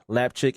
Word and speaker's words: Lapchick: Rickard Lapchick at Rickard Lapchick. It sounds exactly how it's spelled on Twitter.